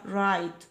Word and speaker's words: write: اي في اي، اما يكتب رايت الدبليو سايلنت، يبقى رايت رايت رايت، تمام.